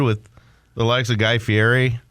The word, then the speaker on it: Fieri: the likes of Guy Fieri yeah it's Fieri you got to pronounce that right oh my gosh well